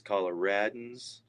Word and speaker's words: Coloradans: It's Coloradans.